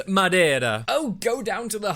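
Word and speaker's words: Madeira: you are sucking down madira wine like it's the first job you've ever had well Mary I just thought it was about time someone did some sucking in this house and it's pronounced Madera oh go down to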